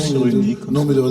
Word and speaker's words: Cyrulnik: Non, ça se prononce cyrillique.